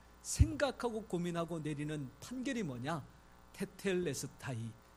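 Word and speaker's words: τετέλεσται: 테텔레스타이. 이 발음이 조금은 어렵지요. 테텔레스타이. 퇴 아니고 태.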